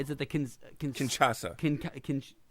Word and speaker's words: Kinshasa: Nakamura goes for the, I do not know how to pronounce, is it the Kinshasa. say that again? Kinshasa.